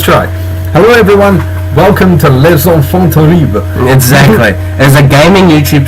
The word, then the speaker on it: Les enfants terribles: Les enfants terribles. Really? Yeah. Okay, so you remember how Liquid used to say it? No, I know. Les enfants terribles.